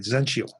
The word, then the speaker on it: Zentyal: at hi-tech so it's all I got the pronunciation right Zentyal you got that right yes all right that's